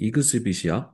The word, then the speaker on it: exhibit: 넘어가서 자 2번은 자 exibit 발음이 exibit이야 그래서 exbit 요게 이제 명사형 중에 exib션 하면은 전시회라는 뜻이 있는데 발음이 여기서는 동사로 쓰일 때는 자 exibit이라고 나옵니다.